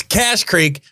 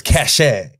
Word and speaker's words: Cache Creek: cache a Creek Casino it's cash Creek but they spell it CA CH e so I thought it was cachet it rides hair streaked